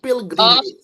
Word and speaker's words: pilgrimage: Pil biasa bukan pile pil. Pilgrimage.